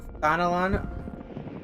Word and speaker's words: Thanalan: The bustling streets of Uldal, one thing, but the wilds of Thanalan. Oh, I actually pronounced that right this time.